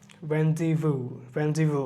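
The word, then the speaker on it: rendezvous: Y usually acts as a vowel, Y সাধারণত এর মতো উচ্চারণ হয়, যেমন আমরা ইল্ড কথাটা দেখছি, এটা খুব বেশি ইম্পর্টেন্ট না। জেড হচ্ছে গিয়ে রেন্ডিভু।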